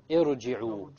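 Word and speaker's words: ٱرْجِعُوا: Irji'u. Okay, irji'u. Notice now, the ra is what? Silent. Silent first. There's a sukoon there.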